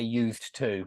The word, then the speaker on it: used to: And so, I don't say used to, never. When we mean like something in the past, like I used to play chess, I used to play rugby, something like that. No, I would never pronounce the D.